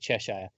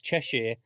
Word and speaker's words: Cheshire: bra and again yeah both of you guys pronounce it Cheshire it's Cheshire and if she's a recurring